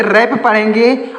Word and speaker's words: wrap: WRAP, यहाँ पर W silent है, तो हम इसे रैप पढ़ेंगे।